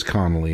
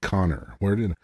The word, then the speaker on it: Connelly: I just realized I mispronounced her character's name. It is Connelly and not Connor.